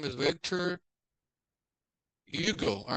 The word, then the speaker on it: Hugo: his name is Victor Yugo all right person not pronounce the h it's in French is Yugo Hugo all